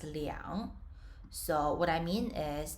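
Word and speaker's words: 两: billion anything above that whenever you see the number two starting from the thousands it must be pronounced as liang so what i mean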